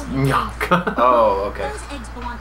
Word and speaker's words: Mbianca: It's Bianca. Yeah, man, that's not how you pronounce it though. It's Mbianca.